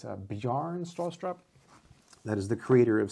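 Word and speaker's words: Bjarne Stroustrup: book written by the creator of C++ uh bjarn straw soap I think I might have said it more correctly if I'm saying it wrong please correct me it's a bearn straw strap that is the creator of C++ anyways some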